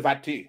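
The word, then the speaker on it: Vastey: If you read the writings of Baron de Vasté, that's how you say it in French, he is basically a literary assassin to the notion of white supremacy.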